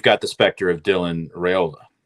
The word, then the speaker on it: Raiola: Also, you've got the specter of Dylan Raiola. Right. Am I pronouncing his last name right?